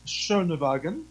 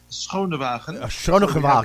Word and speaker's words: Schoonewagen: The name is it's a Dutch name. Yes. It's pronounced in English Schoonewagen. Mm-hmm. In Dutch, we would say, now don't laugh, but we would say Schoonewagen. Schoonewagen, right? Yes. Okay. In the Dutch language, so there you go.